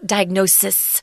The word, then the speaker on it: diagnosis: diagnose something but the the noun form of this word diagnosis is an S diagnosis diagnose so it's a